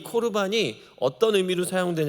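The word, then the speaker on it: קָרְבָּן: 반 에드 에서 아시죠 성경에는 고르 반이라고 에 기록돼 있는데 에 히브리어를 읽으면 코르 반이라고 읽을 수 있어 2 코르 반을 성경사전 해서요 에 그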